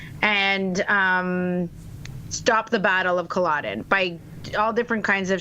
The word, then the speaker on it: Culloden: It's not the Battle of Collagen. No, it's Culloden Moor.